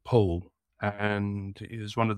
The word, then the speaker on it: Powell: a man called Anthony, well, it's spelled Powell, but with a certain affectation, is known as Anthony Powell.